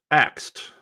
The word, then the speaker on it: asked: of made fun of the pronunciation of asked. And it seems like it's very common for it to be pronounced axed instead.